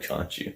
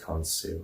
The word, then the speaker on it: Khonsu: It's not Khonshu, because that's from Moonlight. Khonsu, it's pronounced Khonsu.